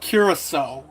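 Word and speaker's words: Curaçao: So you s you it's called curaso if anyone wondering.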